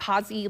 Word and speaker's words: Hazy: He wrote Hazy like Fozzie. Like Fozzie Bear. With her episode airing tonight, Hazy has something extra to be thankful for.